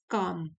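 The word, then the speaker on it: calm: Fifth है my mind is काम, L silent है, काम एंड फोकस्ड।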